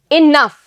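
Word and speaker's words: enough: इनफ. इनफ बोलते हैं ना, बस बहुत हो गया. इनफ. क्या आएगा यहां पे? जी एंड एच. तो देखो जी एच को यहां भी फ बोल रहे हैं, यहां भी फ.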